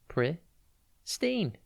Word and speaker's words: pristine: is pristine it's pronounced priy steen and it is spelt p r i s t i n e think pris and then teen pristine means in its